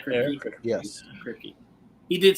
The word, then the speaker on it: Kripke: Is that how you pronounce his name? Kripke? Yes. Kripke.